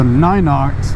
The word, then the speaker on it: Ninox: frames that's more narrow the ninox I guess they pronounce it n i n ox and uh I'm wearing